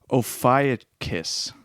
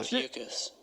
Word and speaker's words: Ophiuchus: It was the Ophiuchus.